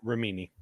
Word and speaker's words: Remini: Leah Remini she she's I believe that's how I'm pronouncing her last name romini Romina yeah she uh basically